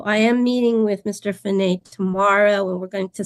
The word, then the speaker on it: Finney: He says his last name is Finney. It looks like Finney, but he asked me to pronounce it as Finney.